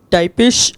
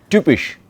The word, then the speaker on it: typisch: Kaffeehäuser sind typisch für Wein. No. Dort Wien. Wien und der Wein. Ja. Kaffeehäuser sind typisch. für Wien. The Y in German, what is the letter? Ypsilon. Typisch. Almost have to imagine a YU.